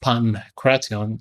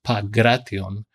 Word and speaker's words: Pankration: And it was pronounced Pancration and not Pagration, because the gamma kappa in modern Greek is pronounced like a G in English.